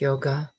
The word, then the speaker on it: yog: ancient scripture called patanjali yogg darshan darshan means vision or enlightenment the enlightened vision yog or sometimes pronounce yoga means unity so yog darshan is